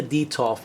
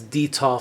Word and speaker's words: Detolf: wanted it wanted it specifically for their Ikea deto now if you guys don't know what an Ikea deto is it's spelled D e t o l f look